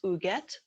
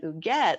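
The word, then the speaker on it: Huguette: our diamond diva this month her name is uget clark it's spelled h-u-g-u-e-t very french last name was clark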